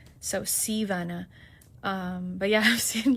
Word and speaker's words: Sea Vanna: So, Sea, S E A, like the ocean, and then Vana, like kind of like Anna, but with a with a V. So, SeaVana.